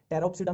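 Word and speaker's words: Pteropsida: टेरोप्सिडा में देखो अब वही है, फिर पी साइलेंट चलेगा।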